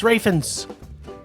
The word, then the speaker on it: Ralph Fiennes: Yes, it's a Raine Rafins. We not Ralph, although it's spelled Ralph. It's Rafins. It's Rafe. It's Rafins.